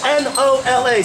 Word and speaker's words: NOLA: has our only official nickname left it reads n-o-l-a central New Orleans Louisiana pronounce it Nola all you have to write